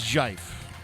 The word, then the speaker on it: GIF: It's Jife. Jife is the correct pronunciation of it.